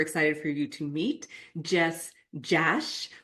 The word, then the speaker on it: Jess Jasch: I'm super excited for you to meet Jess Jash, which rhymes with cash. And I always want to say Jess Jock, but she's like, no, it rhymes with cash. And I'm like, oh, Jess Jash.